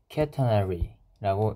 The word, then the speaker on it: catenary: 영어로 catenary라고 읽는다고 하네요.